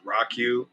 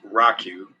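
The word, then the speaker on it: ROCU: but it has a unique url which is rock u r o c u and that's pronounced rock u r o c u dot tours t-o-u-r-s uh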